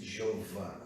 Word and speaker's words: Jeová: Em português nós pronunciamos Jeová.